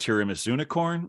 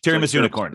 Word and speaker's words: Tiramisunicorn: had like I realized I'm not sure if it's pronounced tiramisunicorn or tiramis unicorn no no you had it right the first time Terry Miss unicorn okay so with tiramisu